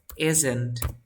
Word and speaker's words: isn't: Es una Z. Isn't. Inténtalo. Exacto. Si tú sientes que vibra, está perfecto.